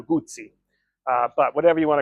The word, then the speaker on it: Guzzi: works engineer Ing and it is absolutely not guzzy so if you pronounce it like that I am sorry for you um I call it generally Moto gozi uh the TR the purists get after me and it's really Moto gutti uh but whatever you